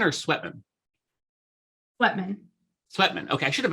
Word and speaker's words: Sweatman: Is it Sweetman or Sweatman? Sweatman.